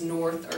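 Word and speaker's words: Nord: the w we have an O so um North is easy it's nor n o r d East is pronounced s or S excuse me e EST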